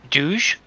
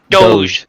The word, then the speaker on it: doge: prior to dog yes it wasn't it was douge i think it was pronounced it's d-o-g i don't know how it's pronounced but that used to pop doge thank you that's it yep but the the